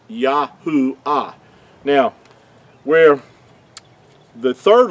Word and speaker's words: Yahuah: understand that the Creator's name could not be yehovah it's yahoo ah now where the third